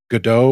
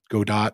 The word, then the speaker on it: Godot: one called intrepid and another one that's using godot or godot depending on where you want to pronounce it open adventure template which is something